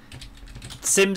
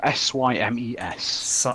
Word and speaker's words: Symes: Sims as in SIM cards? No, S-Y-M-E-S. Symes.